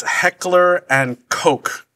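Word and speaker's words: Heckler & Koch: the name so stop it's a long o not a short o right it's it's it's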